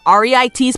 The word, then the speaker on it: REITs: real estate investment trusts or reit's pronounced REITs are companies that own